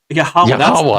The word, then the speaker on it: Yahweh: Yahweh. That's how it's pronounced, everybody.